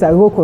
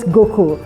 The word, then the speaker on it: Goko: irungu political analyst I goo is quite quite a tongue twist goo right not Goku roko goo n it sounds